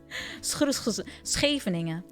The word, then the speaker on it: Scheveningen: Scheveningen.